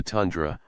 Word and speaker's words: tundra: due north over the tundra a Russian word pronounced tun Dr which is a Rolling